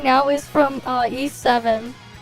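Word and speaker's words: Ys: old game this one no East y s yeah I don't know why it's pronounced that way but yes it's this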